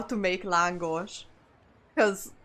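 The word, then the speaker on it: lángos: It's langosh. It's it's typed as langos, but yeah, you pronounce it as language.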